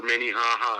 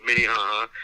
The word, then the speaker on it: Minnehaha: he plays he played high school basketball for minnehaha academy minnie haha academy had a big explosion